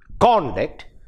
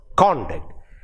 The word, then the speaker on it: conduct: a noun or adjective conduct and if the stress is on the second syllable you you will be able to understand that it is used as a as a verb conduct conduct conduct you see